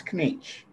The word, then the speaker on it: Knetsch: Everybody, even the English, are saying Knetsch, but it's not Knetsch. Oh, it's Knetsch. No, it's Knetsch. You pronounce the K. Yeah. In the English language, the K is silent. Yeah, but it's actually German.